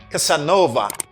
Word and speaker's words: Casanova: Casanova. The stress is here. Casanova.